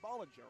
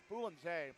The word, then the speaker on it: Boulanger: So it's spelled Boulanger, and you think Bollinger, right, or Boulanger, something like that. But Boulanger, nonetheless, Boulanger had a shot,